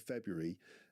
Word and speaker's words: February: And today, Monday the 17th of February, in midfeuary.